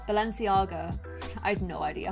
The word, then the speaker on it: Balenciaga: it was several years I used to call it like ba ba let Valencia go Valencia got Balenciaga Balenciaga I had no idea